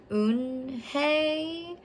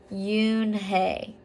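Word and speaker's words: Unhei: joey your name is un hey he asked with his eyes open wide oon hey replied looked quickly at mr kim then turned to joey she nodded slowly yes it's pronounced yoon hey and it means grace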